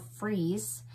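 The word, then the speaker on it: Frieze: It's called Freeze. It's spelled F-R-I-E-Z-E, and it's by Atomic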